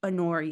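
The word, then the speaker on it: Honoria: k kta and then anoria anoria you don't say the H anoria yeah I know for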